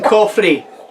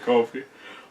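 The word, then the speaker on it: Coffey: right he keep saying he keeps saying cofy with an R it's like he only said it 15 times in the film me I know my name coffee like the drink just not spell the same that means you don't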